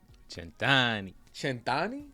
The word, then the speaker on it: Cent'Anni: title s an santani chant chani that's how you pronounce it yeah okay what's it